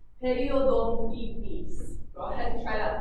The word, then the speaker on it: periodontitis: And periodontitis, this one's a little bit easier. That's pronounced periodontitis.